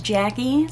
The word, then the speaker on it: Jacqie: If you're new here, my name is Jacqie, spelled with a Q, but pronounced like it's spelled with a K.